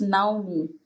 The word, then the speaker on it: Naume: It's Naume, actually, Naume, but I'm used to people just having an interpretation, so I'm used to it. But it's Naume.